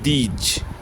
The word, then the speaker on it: these: আর তার যে plural form অর্থাৎ অনেকগুলো বোঝাতে, সেটাকে উচ্চারণ করবো দিজ। এটা হচ্ছে দিস, উচ্চারণটা লিখে দিচ্ছি। দশিকা দন্তস্বয় হসন্ত, দিস মানে এই, আর এখানে দিজ, এটা উচ্চারণ হবে কি দিজ, জ বর্গ জ।